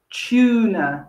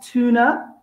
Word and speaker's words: tuna: the beginning of words sometimes the t u the chess how can happen at the beginning of the words and that happens in the delicious fish we call tuna not tuna tuna again staying with london